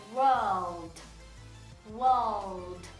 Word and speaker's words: world: Então vai ficar world, world. Quase não pronuncia esse R.